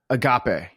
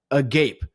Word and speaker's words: agape: And it's spelled a G- A P E. Okay. So, it's a gape.